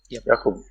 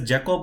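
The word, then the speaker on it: Jakub: So make sure that, I mean, to be on safer side, this guy told me that he's Yakub. So that's fine. But if I were to say his name as Jacob all the times, then probably he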